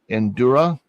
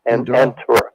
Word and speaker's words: Entura: Okay, let's go back to Endura. Is that right? Entura. Entura. Yeah, I just wrote that down that way too. Okay. I got it spelled right, but you didn't say it right.